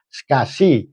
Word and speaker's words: SCSI: Ada pula yang bus interface-nya adalah SCSI, tulisannya SCSI ya. Ini dibacanya SCSI yang merupakan kependekan dari Small Computer System Interface.